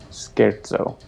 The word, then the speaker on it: scherzo: And now we know that it's pronounced scherzo. Oh, did someone say that? Well, you can. I typed into my terminal say scherzo, and Alex told me how to say it.